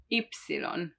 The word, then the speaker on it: ypsilon: And finally Y, which is the only one that may be harder to say, ypsilon, ypsilon, ypsilon. But it's not pronounced as ypsilon in a word, it's just like yogurt, yogurt, yogurt, yogurt.